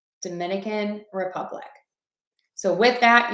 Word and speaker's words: Dominican Republic: Dominican Republic. Dominican Republic. So with that, you want to stress the word number 1, Dominican, and then unstress Republic, word number 2, Dominican Republic.